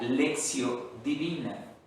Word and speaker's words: lectio: decir está en latín así se escribe lección se pronuncia lección divina aunque se escribe lectio